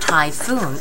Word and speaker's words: typhoon: when we learned about typhoon in English we said typhoon typhoon typhoon and uh you see the pH you don't pronounce it and it's like a f it's not pH it's